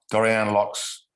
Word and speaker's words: Dorianne Laux: Some of my favorite poets in the United States, including Bruce Bond, Andrew Joron, Dorianne Laux. Is that the correct pronunciation?